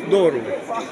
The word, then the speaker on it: Doru: your name again D It's pronounced doru oh okay in our language every letter is pronounced as is it written there's no difference like